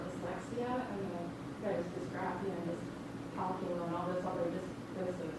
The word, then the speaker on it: dyscalculia: Dyscalculia, it's pronounced different ways. I say dyscalculia.